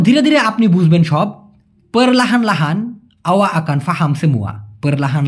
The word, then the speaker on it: perlahan lahan: বলা হয় perlahan lahan, অনেকে বলে প্ল্যান প্ল্যান, মানে এই perlahan লাহানটাকেই সিম্পলি শর্টকাটে perlahan lahan ওরকম না বলে প্ল্যান প্ল্যান। ওকে, বলতে পারেন, কোনো সমস্যা নাই, তবে সঠিক উচ্চারণটা হচ্ছে perlahan lahan।